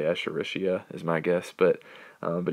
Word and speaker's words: Escherichia: known that's escherichia coli so I broke this down for you so you should be able to hopefully say it right Escher Rishi coli uh everybody just calls